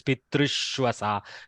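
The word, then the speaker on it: पितृष्वसा: In Sandhi, Shatva is happening, so Shakara appears, Pitrushwasa. Due to the Repa, Shakara is forced in the place of Sakara to help the pronunciation.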